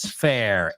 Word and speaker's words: fare: And he says, how much is the bus fare? Excellent. Yeah, the word fare. Now, it's a homophone because it sounds like the word feria, fair, right?